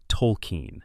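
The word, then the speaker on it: Tolkien: In season 25, the show revealed that the character's name was actually Tolken, spelled like JRR. Tolken, the author of The Lord of the Rings, and that everyone, including the viewers, had been misharing and misspelling it for 24 years.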